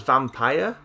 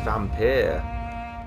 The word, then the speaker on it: Vampyr: See, I always thought that was vampire, but a load of people pronounce it as vampyr. So I'm not sure. I still call it vampire because it isn't Y, vampire. So I think it's just the old English way of spelling vampire.